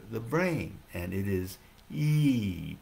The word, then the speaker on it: yi: brain and it is e pronounced like e e long e's it's spelled y i in pinyin for mandarin chinese but it's pronounced e so the y is silent long e sound okay